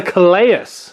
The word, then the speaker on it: Calais: I did watch a video on YouTube on how to say the name. It's called the Calais.